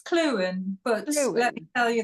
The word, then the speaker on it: Clughen: Am I pronouncing your surname right, Lisa? It's Clughen, but let me tell you that nobody in Britain would pronounce it correctly either.